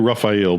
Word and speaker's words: Rufail: We have Rufail. How do I pronounce that? It's actually Rufail, but we always just say Rufail to keep it simple.